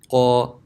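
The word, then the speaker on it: ق: So to pronounce it, try to put some pressure on it as well. Qa, qa, qu, qi, qa.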